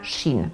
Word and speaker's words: Shein: 2008 w Chinach powstaje Marka Shin Pewnie jesteście zdziwieni ale to jest prawidłowa wymowa nazwy tej marki szybko staje się gigantem który